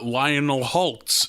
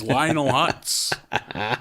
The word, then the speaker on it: Lionel Hutz: I know for a fact that you do that because you always say Lionel Holtz, and it is Lionel Hutz.